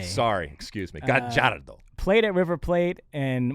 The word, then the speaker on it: Gallardo: Yeah, Marcelo, it's Gallardo, by the way. Oh, sorry. I always forget this, but in Argentina, the 2 L's are pronounced like a J. Sorry, excuse me. Gallardo.